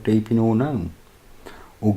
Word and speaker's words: GNOME: KDE is considered heavyweight, but it's not as heavy as some like Deepin or GNOME. Or GNOME. I pronounce it GNOME, as in garden gnome, because that is how it's spelled. Anyway, yeah.